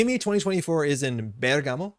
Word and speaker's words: Bergamo: y 2024 is in Bergamo I think you pronounce somewhere like that Bergamo bamo and on emphasis on the first and this is the